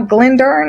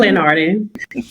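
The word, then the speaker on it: Glenarden: Lastly, at church, First Baptist Church of And now, Glendon, is that is that how that's pronounced? Glendard. Glennard.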